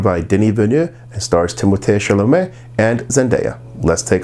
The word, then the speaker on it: Timothée: One, it is pronounced Timothée. It's supposed to be Timothée. It was Timothée.